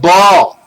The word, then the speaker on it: Baal: They are the columns of Baal, B-A-A-L. The two A's represent the two columns, because one A is silent. It's a consonant.